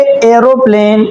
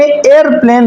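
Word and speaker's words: aeroplane: اضافہ کرتے ہیں۔ ایسے ہی انگریزی میں بھی لہجے ہیں، ہم نے بچپن سے پڑھا ہے ایروپلین، جہاز کو ہم پڑھتے ہیں ایروپلین، لیکن جو صحیح انگریزی ہے اس میں ایئرپلین بولا جاتا ہے۔ پھر ایروپلین کو اس طرح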